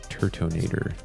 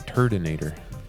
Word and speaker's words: Turtonator: Turtonator. I think the first time I pulled that card, I pronounced it Turdinator.